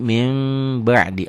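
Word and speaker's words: من بعد: praktik di Quran kelihatan jadi min ba'di dibacanya jadi minim ba'di Apa hukumnya n iqlab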